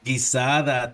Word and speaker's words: guisada: Guisada, I'm going to say it wrong. My pronunciation is terrible. Oh, guisada tacos.